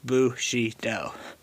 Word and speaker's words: Bushido: Japanese pronunciation, Bushido.